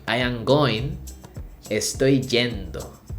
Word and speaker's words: yendo: regular conjugation Y and the pronunciation is a little stronger so we say gendo say I am going estoy gendo say in this case